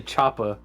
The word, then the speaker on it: Chopper: it Chopper or Chopper technically I say Choppa because it's Chopper because that's what a lot of them say in the show it's it's spelled c-h-o-p-p-e-r but when uh but when they say it in the show they say it Chopper oh okay and his